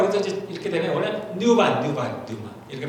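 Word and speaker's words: πνεῦμα: 근데 우리는 정확히 이제 잘 모르니까 이제 퓨뉴마 이렇게 하니까 우리도 이제 이렇게 되면 원래 뉴마 이렇게 발음이 되는데 그 다음에 이 혼은 뭐라 그래요?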